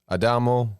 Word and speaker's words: Adamo: There's Adam Adamo. That's the right way to say his name.